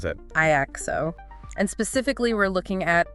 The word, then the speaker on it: IAXO: IO okay say that again how do you pronounce that iao and specifically we're looking at the baby iao